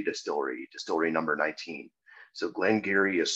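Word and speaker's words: Glen Garioch: 18 year old from Glenn Geary distillery distillery number 19. so Glenn Geary is spelled Clem space and then Geary looks like Gary Ock and that's how a lot of people pronounce it that's how I pronounced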